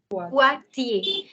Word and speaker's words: Poitiers: IER, I told you, IER is the sound of EA. So it becomes a Poitiers. Poitiers. You have 2 syllables literally. Poi, this is the first syllable, and the second is Tiers. Poitiers. That's a city in France.